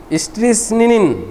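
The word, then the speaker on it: strychnine: হল স্টিসনিক বা স্ট্রিকনস এই যে স্টিনিনিন স্টিসনিন এটা হবে উচ্চারণ স্টিসনিন এর ভিতরে একটা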